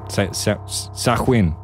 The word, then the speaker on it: Samhain: Sahwin. That's how you say it.